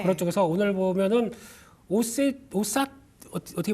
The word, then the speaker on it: OSAT: 그런 쪽에서 오늘 보면은 오삿 어떻게 발음합니까? OSAT? 오삿? 오사트라고 합니다. 저희 그 잉글랜드에서는요 오사트라고 해서 네네.